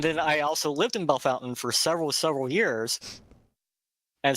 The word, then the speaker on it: Bellefontaine: was in Bellefontaine okay that that's how that's pronounced by the way Bellefontaine Ohio okay I grew up in